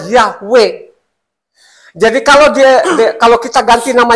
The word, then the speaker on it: Yahweh: Ternyata waktu saya teliti, di situ tulisannya Yod-He, Waw-He, bacanya Yahweh.